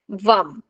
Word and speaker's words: वम: हुए उसका बीज मंत्र वम का उच्चारण करें स्वाधिष्ठान चक्र का बीज मंत्र कौन सा है वम बीजक्षरा है वम व वरुण का वम वम स्वाधिष्ठान चक्र का